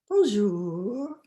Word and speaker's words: bonjour: level stare and then saying bonjour drawing out the second syllable nice and long i would loosely translate